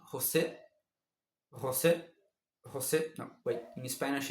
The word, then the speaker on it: José: In Spanish, is Jose. It's not Jose, Jose. If you say Jose, and a Portuguese or Brazilian person hears you, you will be stabbed. You'll be stabbed to death.